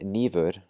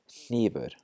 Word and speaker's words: hnífur: Instead of saying nýfur, we're going to say hnífur. And the last one, instead of saying repna, we're going to say hrepna.